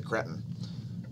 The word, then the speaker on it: cretin: We won't mention his name because he's a cretin. A cretin. Yes, cretin. I prefer the British pronunciation instead of cretin, all right? For you Americans, he's a cretin.